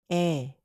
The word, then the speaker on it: 의: 학생 이름, The student's name 의, is usually pronounced 에, when used as a possessive particle comparable to the English preposition of.